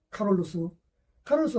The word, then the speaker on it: 카롤루스: 그토록 받았던 식으로 알렉산드로스, 카롤루스가 누굽니까? 칼 대제라고 이렇게 많이 했죠. 좀 편하게 말해서 이제 노땅들. 그러니까 본인들이 생전에 불렸던 이름으로. 그러니까 카롤루스란 말 자체는 이제 라틴어식 뭡니까? 발음이죠. 실제로 그렇게 불렸어요.